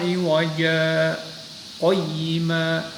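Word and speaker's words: عِوَجًا قَيِّمًا: Jadi cara membacanya iwaja qayyima. Diulangi lagi dari qayyima. Ini ayat 1 dari Alhamdulillahilladzi anzala ala 'abdihil kitaba wa lam yaj'al lahu iwaja qayyima. Jadi tidak bernafas tetapi berhenti sebentar. Jadi iwaja qayyima. Jadi mulut tidak berubah, lidah juga tidak berubah. Itu sakta. Berhenti sejenak tanpa mengambil nafas.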